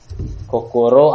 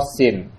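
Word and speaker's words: 心: Kan di hati itu dari gambar hati, bacanya kokoro atau shin.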